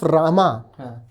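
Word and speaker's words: राम: with Sanskrit pronunciations okay so imagine that I write R and a mo okay one after the other d nagari d nagari script Ro and mo how would you pronounce it uh RAM can you imagine any other pronunciation of that you can't no because most modern North Indian languages they shorten the end right because really what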